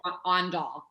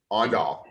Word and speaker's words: Aandahl: It just say O-N and then doll, and that's it. Aandahl. Aandahl.